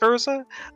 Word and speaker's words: Urza: that timeline so yeah it is ursa but it's spelled differently yeah it's about with the er z8 but i i i